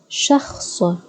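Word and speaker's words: شخص: So sha, ha, sa, shakhs, shakhs, shakhs, shakhs.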